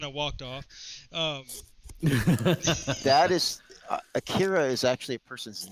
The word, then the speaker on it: Akira: most attached to, and there's a debate forever on how to pronounce it. Akira. It's Akira, however you want to pronounce it. Akira is Akira. how I've always said it. Yeah. Yeah. I said Akira for years, and then some friend in college, like, it really is, it's pronounced Akira. Yeah, that's the correct translation.